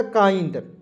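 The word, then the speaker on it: kind: से क लिखेंगे और आई एनडी इसका उच्चारण आंड के रूप में करेंगे हो जाएगा काइंड ठीक है काइंड हो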